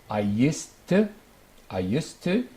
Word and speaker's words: used to: And notice that the pronunciation of used to, if it is past, ed, or it is base form, use, because we have linking with the to, same pronunciation. I used to, and did you used to?